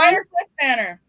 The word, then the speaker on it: Briarcliff Manor: This one I always get wrong, and I don't know why, but I always call it something different. What's the name of the asylum? Briarcliff. You always say it wrong. I always say it wrong. I always say it wrong. But you want to say the whole thing? What is it? What did you say, Don? Briarcliff Manor. That is correct.